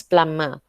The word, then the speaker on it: plumber: is a plumber okay plumber with the silent b it is not plumber right it's plummer okay and the next